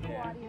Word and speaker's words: Kawadi: The only thing that rhymes with Kawadi is naughty.